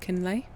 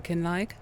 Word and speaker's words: Kinlaig: Jessica, my girlfriend and I, and she's Scottish, came up with the agreement that it'll be pronounced kinlay. Um, cuz I was going for kinlag. Um, but I think I was adding a bit too much Welsh twitch to it.